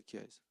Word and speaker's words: 기아: 키아도 키아 하면 되지 뭐 노노 GIA 기아, no K 막 이런 그럴 이유가 있어요 없어요? 차나 빨리 잘 사가면 돼요. 근데 현대 기아 제네시스 딱 만들어 놓고